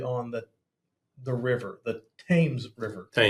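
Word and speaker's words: Thames: The Tames River. Tames. The Tames River in T H- S. Yeah. rhymes with what? James. James. Not Tims.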